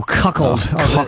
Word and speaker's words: cuckold: the how do you say that word Jimmy cuckold oh cuckle good cuckle the famous cuckold scene you did